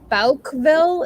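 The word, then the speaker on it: Bouckville: where that is exactly i think it's in balkville is how you say it b-o-u-c-k-e-v-i-l-l-e but it's it's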